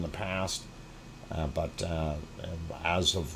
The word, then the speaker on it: Aso: uh japan of course aso is the way it is spelled i do not mispronounce it or think it's something else but it is uh called aso and uh of course